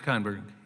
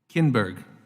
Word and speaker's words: Kinberg: Ken Berg am I am i pronouncing your name correctly Kinberg see i knew there was a good chance i had that wrong so forgive me dr.